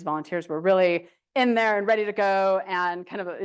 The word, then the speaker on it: Andree: But if I want to have that conflict and I say, you know, my name's pronounced Andrea, that's a content thing, right?